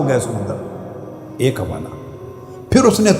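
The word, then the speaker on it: Psalm: लिखने में पी एस ए एल एम एस लिखते हैं। मगर पी और एल दोनों साइलेंट होते हैं। साम ये मुनाजात का चैप्टर है तरात में।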